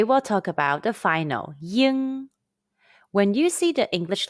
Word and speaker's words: ying: pinging the pronunciation is it's like the sound of ing in the english word king but the g sound is barely pronounced say now mimic the